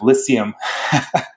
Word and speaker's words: Lyceum: You'll have to educate me on the pronunciation of Lyceum.